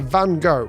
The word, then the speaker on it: van Gogh: The correct Dutch pronunciation is Vincent van Gogh.